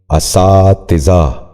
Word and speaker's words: اساتذہ: کہیں استعمال کرتے ہیں۔ پہلا لفظ ہے اساتذہ۔ یہ غلط تلفظ ہے، درست تلفظ ہے اساتذہ۔ دوبارہ سنیے، اساتذہ۔ بچوں آپ بھی غور